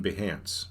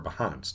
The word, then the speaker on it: Behance: is over here on behance okay or behance depending on how you would like to pronounce it tomato tomato you get the idea so